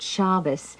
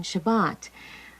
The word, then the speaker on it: Shabbat: have changed a little my grandmother called it Shabbos whereas today we use the Sephardic pronunciation Shabbat but it has always